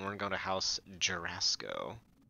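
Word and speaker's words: Jorasco: Alright, we're gonna come to the teleporter here, and we're gonna go to House Jurasco. Or as I sometimes jokingly pronounce it, Jerisco. Like Jericho.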